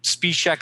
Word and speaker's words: Špíšek: Špíšek, I'm sure I'm butchering your name, but thank you for joining me and welcome to the show.